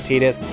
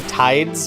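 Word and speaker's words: Tidus: As a German guy, you do pronounce it Tetus. And like in other languages, it probably makes more sense. But in English, it should you would think it would be tides be to align with like the tides.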